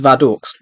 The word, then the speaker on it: Vadok: The place he had escaped from wasn't really a prison, as it was operated by Agent 1's deranged uncle, Vadok Shimper, pronounced Vadoks, who had Agent 1 and his entire family locked up last year.